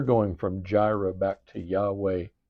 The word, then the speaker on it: Yahweh: a y right so we ended up with Jehovah instead of Yahweh I know that's a big difference to us to our ear but also we we've gone from gyra we're we're going from gyro back to Yahweh Y.